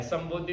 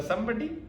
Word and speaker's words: संबोधि: तो उसने कहा हाँ, ये तो बिल्कुल अंग्रेजी के शब्द संबडी जैसा लगता है। संबोधि को उसने बोला संबडी, लेकिन संबोधि इसके बिल्कुल विपरीत है। जब तुम कोई नहीं हो जाते हो तब संबोधि घटित होती है।